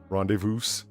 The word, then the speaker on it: rendezvous: skirt it's a schedule have you ever heard anyone pronounce the s in rendezvous rendezvous all right oh yeah